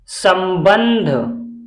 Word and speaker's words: संबंध: video के अंत तक अंग की मात्रा से हम हमेशा दो उच्चारण करते हैं एक तो आधे नका और कहीं कहीं आधे म का भी होता है जैसे सप बिंदी लगी हुई है इसका उच्चारण होगा आधा म और ब पे बिंदी लगी हुई है इसका उच्चारण होगा आधा न जैसे सम बन ध